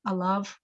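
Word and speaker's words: עליו: And it looks like there's a yud in there that's kind of silent with the kamatz yud vav. You pronounce it av, alav.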